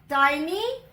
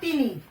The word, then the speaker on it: tiny: The frog's name is Tiny Tim. Tiny. Tiny Tim. This is not teeny. Okay? The pronunciation is tiny. Tiny is tiny. Okay? Do not read it as teeny Tim. It is Tiny Tim.